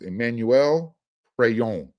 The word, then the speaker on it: Emmanuel Pregnon: His name is Emmanuel Pregnon. That's the correct pronunciation.